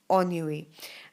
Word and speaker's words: ennui: But the exact pronunciation, because this is French, it's a French word, or it's derived, or it has French roots. The exact pronunciation of the word is ennui.